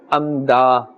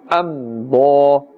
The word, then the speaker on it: أمضى: thick tone, and therefore we are not saying amda, rather with a full mouth, amda, أمضى آتيتكم من كتاب آتيتكم من كتاب.